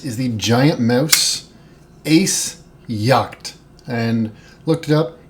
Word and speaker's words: Jagt: the giant mouse Ace yach and looked it up Yak seems to be the pronunciation of this this is an Italian